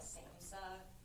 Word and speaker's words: SAMHSA: So you're going to see, I call it SAMHSA, and I don't think that's how you pronounce the acronym at all.